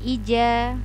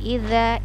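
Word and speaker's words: إِذَا: jadi yang ini Hai ini adalah huruf dza Za diujung lidah Nda bukan huruf j ya bukan huruf ja bukan Ija tapi Iza Iza begitu Hai Iza panjangnya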